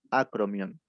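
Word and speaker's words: acromión: este nivel se llama acromion. Si quieren se los escribo. Acromion. Un acento en la O.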